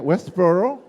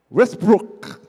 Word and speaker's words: Westbrook: Westboro. West West. That's you auntie. Sorry I wasn't making fun of your last holy name. How do you say Westboro? Westbrook.